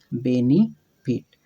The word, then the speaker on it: benefit: तो ये होना चाहिए, अगर हम हिंदी के जैसे ने होना चाहिए, बेने, बेने होना चाहिए, लेकिन अंग्रेजी में इसको भी ई का उच्चारण दिया गया है और पढ़ा जाता है बेनिफिट।